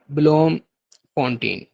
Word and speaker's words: Bloemfontein: और थर्ड है ब्लोम फोंटेन, ठीक है। ब्लोम फोंटेन जो है इनका जुडिशियल कैपिटल है। ब्लोम फोंटेन के स्पेलिंग आप नोट कर लें, BLOEMFONTEIN, ब्लोमफील्ड, ब्लोम फोंटेन, ये इनका जुडिशियल कैपिटल है।